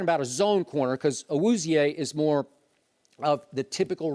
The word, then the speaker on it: Awuzie: at that point, but I think it's Awuzie. Awuzie. And I watched him a lot. Joel Klatt called him Awuzie on the air on Fox Sports 1.